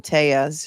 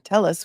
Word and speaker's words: Telles: that she calls him teas she's using the Spanish pronunciation rather than telis which is what he calls himself and everyone else calls him and if they were